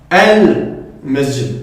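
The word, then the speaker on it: المسجد: Tandis qu'ici on dira al-masjid. Donc là, on entend clairement le lem.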